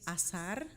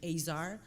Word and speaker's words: Azar: say it well the right way to say is asar but you adapt to wherever you go so here they call me azar hey sorry as long